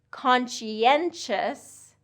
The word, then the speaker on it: conscientious: Conscientious, conscientious has 4 syllables there, conscientious.